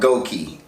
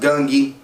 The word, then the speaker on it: Gungi: Kamagi, she is this world-renowned champion in a game called Gongi. Let me look that up, matter of fact. Let me get this on point. Found it. The game is pronounced Gungi, and Morel cannot beat Kamagi.